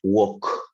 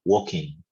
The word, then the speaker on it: walk: El verbo caminar, walk, como si fuera una O, walking, walking, y no se dice la L, walking, ¿no?